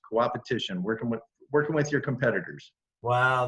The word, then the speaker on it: coopetition: And you call it coopetition.